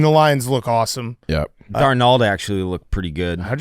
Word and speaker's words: Darnold: Darnold actually looked pretty good.